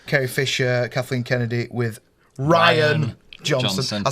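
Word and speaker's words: Rian: But with an I, really, it's Ryan. I was on holiday watching the show and I was like, it's Ryan. If you want to be called Ryan, spell it with a Y, mate.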